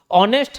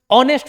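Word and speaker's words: honest: ऑनेस्ट हम ऑनेस्ट नहीं पढ़ते। इसका सही प्रोनाउंसिएशन ऑनेस्ट होता है। एच साइलेंट होता है।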